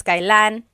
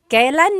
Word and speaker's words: kailan: And then just a pronunciation tip, it's pronounced kailan, kailan, but you will often hear it pronounced kailan, kailan. Kailan ang kasal? Kailan ang kasal? But it's not wrong to hear kailan ang kasal. It's a little bit more formal.